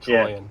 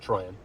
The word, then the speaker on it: Troyan: my name is Troyan. Yeah, it's Troyan. It's on my page. How do you spell that? Like Trojan, but with a Y instead of a J.